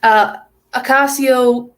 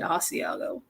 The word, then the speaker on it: Ocasio: Ocasio Cortez, or we like to call her Asiago Cheese Sniffer Cortez, just because that's just me. The first time I ever pronounced her name wrong, I said Asiago for some reason.